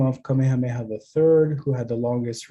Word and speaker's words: Kamehameha: up of five morphemes the first one is a diphthong the second one i gotta move my uh let's see is a single vowel on a single syllable the next one these two morphemes combine to create three vowels across two syllables and the last one of course the last morpheme is two syllables and a vcv structure we'll probably come back